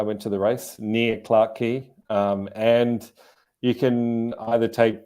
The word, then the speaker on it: Clarke Quay: So Clark Quay seems like the more going out at night party area.